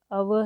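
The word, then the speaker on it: hour: तो ये जो वर्ड आवर है यहाँ पर ये स्टार्ट होता है एक कंसोनेंट लेटर से एच, बट इट is silent sound. यहाँ पर जो है वो वावल साउंड है तो इसलिए इसके साथ भी एन आएगा।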